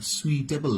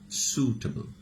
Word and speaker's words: suitable: সুটেবল, এটা সুইটেবল না, কি উচ্চারণ? সুটেবল, SUITABLE.